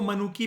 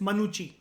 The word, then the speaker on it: मनुची: इसको मनुकी भी कहते हैं कई लोग, रियल प्रोनाउंसिएशन इज मनुची। जैसे ब्रांड है ना एक, मयूर सुना होगा गुची, ऐसे ही एक मनुची, ठीक है।